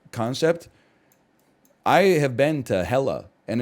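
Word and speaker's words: Hekla: I had no concept I have been to hella and it's again it's an it's an it's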